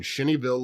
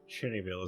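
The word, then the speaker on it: Cheneyville: It is located at 292 Lloyd Bridge Road in Shinnyville, Louisiana, about 16 milesi south of Alexandria. Shinnyville.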